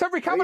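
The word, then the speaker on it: Henry Cavill: It's Henry Caval everybody.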